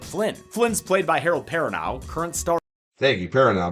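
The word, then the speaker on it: Perrineau: like helicopter pilot Flynn Flynn's played by Harold perano current star thank you peran been wondering how to pronounce his name name for the long peran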